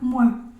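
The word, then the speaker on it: moi: palabra mua O sea la palabra m o y a es me la se dice mua O sea que sería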